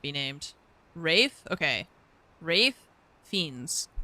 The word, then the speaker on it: Ralph: Not Ralph Fines. Who would say it that way? Ridiculous. No one would say that for their whole life up until this point. Uh, I've always called him Rafe Fiends.